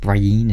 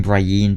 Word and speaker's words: Brienne: of the scenes with Brian and Jamie Brienne crane I'm sorry I I'm used to saying Brian but I think I say it Brienne on the show then again